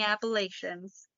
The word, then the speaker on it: Appalachian: pronounce it appalachian and the old saying is is i'll throw an apple at you so that's how i guess it's remembered appalachians but i know